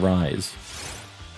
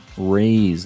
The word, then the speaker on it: Rays: But I would like to try to pronounce things raise, and I've been saying rise. I gotcha. Rays, like the sun rays.